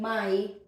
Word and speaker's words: may: when we are saying my in in a sentence we could say may but when we are reading this alone like this word it could never be read as May it's always my okay but in a